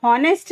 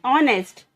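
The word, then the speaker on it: honest: Guys यहाँ पे हॉनेस्ट नहीं कहते हैं, एच साइलेंट है, इसे कहते हैं ऑनेस्ट।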